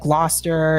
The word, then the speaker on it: Gloucester: think there would like Gloucester and Worcester it's not spelled the way it's pronounced at all these are like those old English names and girls to Belchertown